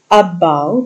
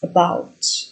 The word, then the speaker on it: about: And the stress, I mean, for example, when you say the word about, you don't say it about, it's about, where the stress falls on the second syllable.